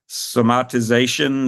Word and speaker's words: somatization: and I I need to know how to pronounce it if I'm going to write it in a book but it's somatization it's where you are imagining all of these